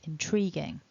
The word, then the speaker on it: intriguing: and an i um it might be tempting for you to pronounce this word with a gui in the middle but as we'll see we don't want to gui so here it is